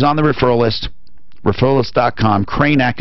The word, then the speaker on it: Kraynak: Kranak is spelled Kraynak. So it's Kranak, 2 Ks.